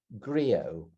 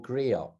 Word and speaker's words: griot: him as a contemporary grio or griot depending on your your location about the pronunciation and i just want